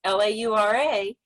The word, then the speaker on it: Laura: gave the example of if we english-speaking people would say l-a-u-r-a we might say her name is laura um but you said it would be la ur and it's not really